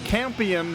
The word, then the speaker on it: Campion: possibility this season and since Campion rhymes with champion these guys would love